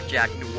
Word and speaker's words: Jack Noir: Either my name's not Jack Noir, because it's one word. It's not two words. You pronounce it as one because it's Jack Noir.